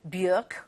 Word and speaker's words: Björk: I replayed bits of interview from Michael Hutchence, from Björk, rhymes with jerk, the Icelandic singer. She reminded me during that interview that's actually how you pronounce her name.